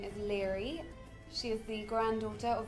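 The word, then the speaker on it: Laoghaire: How would you pronounce that? Slow hair. Lear. And long hair. Leghorn! My character's name is Leary.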